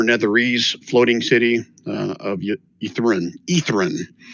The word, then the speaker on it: Ythryn: Ythryn is how it's pronounced.